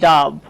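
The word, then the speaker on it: dub: ঠিক তেমনি করে ধরেন আরো উদাহরণ দেওয়া যায়, এই যে এই বানানটা একটু খেয়াল করেন, লিখেছি ডাব। এই বানানে কিন্তু আমরা ও লেটারকে আ এর মতোই উচ্চারণ করছি।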